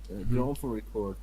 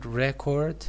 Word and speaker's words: record: Yes, a single gramophone record, first syllable because it is a noun. record, and if it is used as a verb, it is record.